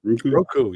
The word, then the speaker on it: Roku: Roku, yeah.